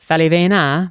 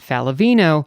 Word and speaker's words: Faliveno: So the Italian last name should be pronounced Falivena, but of course, when my grandparents came to the States from Naples, they decided to pronounce it Faliveno.